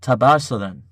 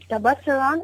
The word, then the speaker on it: Tabasaran: father is from a and please pardon my pronunciation. Is it Tabasaran?